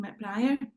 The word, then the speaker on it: McBriar: 97, McBriar, rhymes with Briar.